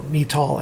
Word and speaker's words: Metol: That stands for Pyro-Metol, or Metol, I've heard it pronounced both ways, Kodalk.